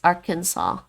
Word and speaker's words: Arkansas: spell if you just just drop the s arkansas it's like r can saw right arkansas i don't